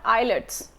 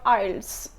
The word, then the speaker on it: IELTS: with Manal Fatma by the way it's not eyelids I've heard many people call it eyelids IELTS kalokhe eyelid scar that there is a wrong pronunciation is called isles okay so first of all we need to